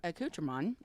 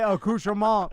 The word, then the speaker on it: accoutrement: No, seriously, ask your Alexa to say accoutrement. It will not do the French accent. It says accoutrement. Say accoutrement.